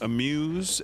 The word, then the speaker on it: Amuse: I think it's pronounced Amuse, A-M-U-S-E. Do you guys follow him?